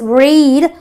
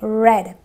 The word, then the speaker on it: read: have red okay so only the present tense for the read is read which is my long e but otherwise it is a red like I said there